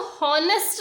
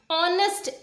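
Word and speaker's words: honest: देखो इसको हॉनेस्ट नहीं बोलते हैं, ऑनेस्ट, H साइलेंट होता है, O से स्टार्ट करते हैं इसका।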